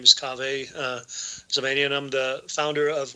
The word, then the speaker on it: Kaveh: Yep, Kaveh.